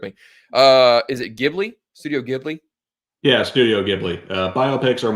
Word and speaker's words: Ghibli: Studio Ghibli?